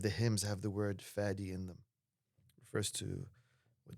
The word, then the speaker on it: Fadi: I have always called you Fatty, but others call you fatty. What would you prefer? The correct pronunciation is fatty.